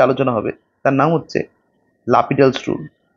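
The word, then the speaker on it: L'Hôpital: হবে তার নাম হচ্ছে লাপিডালস রুল এটার স্পেলিং হচ্ছে এল হসপিটাল এল হসপিটালস রুল কিন্তু এর একচুয়াল উচ্চারণ হচ্ছে লাপিডাল ঠিক আছে লাপিডালস রুল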